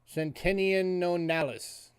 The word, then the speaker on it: centenionalis: It is a bronze centenionalis, or centenionalis. That's how you say it.